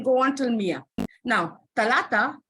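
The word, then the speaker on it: ثلاثة: She would stand up and she would say, Miss is pronounced as talata. Talata. Correct.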